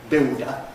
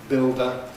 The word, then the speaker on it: builder: So this example sort of falls apart if you say builder we haven't got lateral approach because we haven't got a lateral but in the classical and more usual pronunciation builder we have lateral approach.